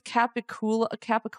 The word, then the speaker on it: capicola: Because it's like pronounced fuck. Like I think it's like the proper term is Capicola, and I'm like, come from Gabagool? What kind of like linguistics happened here? New Jersey, Gabagool. They do things a little